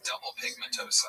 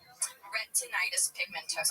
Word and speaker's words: retinitis pigmentosa: So he has double pigmentosa, huh? Yeah. Double pigmentosa? Yeah. Wasn't that, what is it? How do you say it? Retinitis pigmentosa.